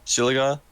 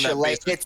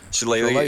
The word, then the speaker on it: Shillelagh: After casting Bless, my bonus action, I'm going to cast the I've never known how to pronounce this spell. The Shilliga, the one Shillelagh. Shillelagh.